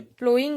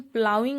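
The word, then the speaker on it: ploughing: जो प्लोइंग है, इसका करेक्ट प्रोनाउंसिएशन प्लाउइंग होता है।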